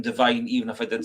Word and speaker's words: Devine: says on the screen, it's Divine rather than rather than Devlin. Um it could be my accent. It could be the way that I pronounced it.